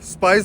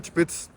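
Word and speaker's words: Spiez: दरअसल इसके स्पेलिंग है एस पी आई ई जेड स्पाइस बनता है। लेकिन जो इनकी लैंग्वेज में बोलते हैं वो है चिप्स।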